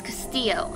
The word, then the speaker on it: Castillo: And yes, it's Castillo. I'm Hispanic. I know how to pronounce the names.